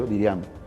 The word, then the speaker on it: Diriamba: Diriamba, que se llama, se pronuncia Diriamba.